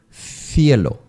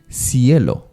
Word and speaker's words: cielo: Your tongue has to stay between the upper and down teeth. Cielo, cielo. And then compared to Mexican Spanish will be cielo, cielo.